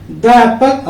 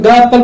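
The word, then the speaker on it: the: जैसे यहाँ पे द एप्पल, अब यहाँ पे द एप्पल है, बहुत लोग द एप्पल बोलते हैं, but actually it should be pronounced like दी एप्पल, okay, दी एप्पल।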